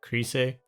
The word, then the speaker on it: Chryse: Most fitting would be like something to do with Chryse, which I know sounds weird, but that is how you would pronounce it because it's Greek.